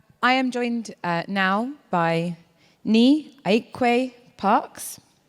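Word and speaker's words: Nii Ayikwei Parkes: I think I've met you all before by now, so I am joined now by Ni Aikwe Parks, correct pronunciation, who is a Ghanaian writer, editor, socio-cultural commentator, and performance poet, amongst other things.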